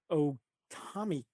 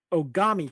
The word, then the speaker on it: Ogami: the crest of the Otami clan. Am I saying that? Did I get it right this time? I probably said it wrong. Ogami clan, sorry, if he agrees to take off the crest and fight their best warrior.